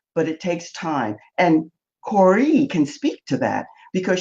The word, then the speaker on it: Kore: I was saying Core, it's Corey.